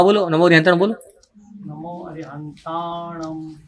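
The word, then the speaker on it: णमो अरिहंताणं: तो कैसे होगा उसका उच्चारण? नमो अरहंताणम। ये जो म किया ना मैंने, होठ से नहीं किया है, नाक से किया है।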